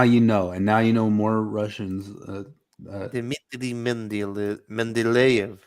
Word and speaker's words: Mendeleev: No, that's Mendeleev.